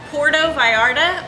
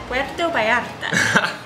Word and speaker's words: Puerto Vallarta: definite you might be a gringo if you pronounce this city porto by Arda or portable ardha how is it pronounced the city web doe by app isn't natural you might be a gringo if